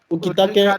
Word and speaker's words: Ukitake: Ukitake, and Ukitake and isn't Shinsui.